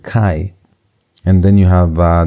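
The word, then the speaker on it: chi: the Greek it's ar you also have kai which looks like x in the English but in the Greek it has that ch sound kai and then you have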